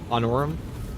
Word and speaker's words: Honorum: Um, they serve as a semi- crusadebased chapter based on honorum honorum. Anorum is how you say it, which is definitely not space Scottish Highlands.